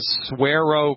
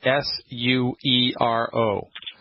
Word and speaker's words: Suero: It's called the Suero Cleanse. You spell that S-U-E-R-O.